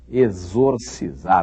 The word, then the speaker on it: exorcizar: E exorcizar é difícil falar, não é? Exorcizar. X. X logo no começo. EX. Exor. É X. O nome da letra é exorcizar. Esse X tem o mesmo som do X de exame, por exemplo. Tem o mesmo som do X de êxodo, por exemplo.